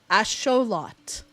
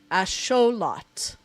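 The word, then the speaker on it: axolotl: How do I say axelottle properly? Axot. Because I know I'm saying it wrong. Okay. Oh, I'm not even close. Okay, let's try again. Asholot. Asholot. I'm using the uh the phonetics cuz uh it's like an indigenous Mexican word cuz Yeah.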